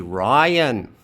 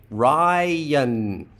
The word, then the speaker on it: Ryan: All right, so we're going to leave that as a schwa plus an N. Ryan. The y here has moved to the next syllable due to onset greed because y can appear at the beginning of a syllable in English.